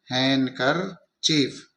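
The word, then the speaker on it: handkerchief: यहां देखना है कि के से पहले डी आ रहा है तो यहां पर वह डी है वह साइलेंट हो जाएगा और यह हो जाएगा हैं कर चीफ यह हो जाएगा हैंड कर चीफ इस तरीके से हम इसका उच्चारण करेंगे हमें इनका टुकड़े करते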